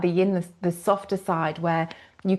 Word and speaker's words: yin: The yin is the rhymes with dim. That's how I remember it. Like the yin, the softer side where you can relax.